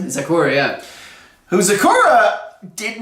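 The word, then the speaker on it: Zecora: Zakura, yeah.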